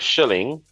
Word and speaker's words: Schilling: out of this one, but Curt Schillings, is that right? Oh my god. Oh my god. Did Curt I say it right? Schilling. Oh, He may be Schilling. an asshole, but at least get his name right.